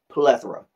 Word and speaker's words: plethora: me plethora plethora plethora accent on the first syllable okay first syllable gets accented not second like some of the